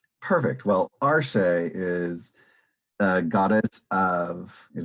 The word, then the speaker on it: Arshea: Okay, I'm really, really bad at this pronunciation, but I think it's Arshea, Arshea, Arshea. Arshea, that sounds about right. Yeah, and so Arshea is pretty cool. Arshea? According to the official Pathfinder wiki, it is Arshea.